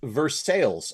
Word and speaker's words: Versailles: it's in versailles kentucky which is pronounced verse sales unlike the french versailles of course it is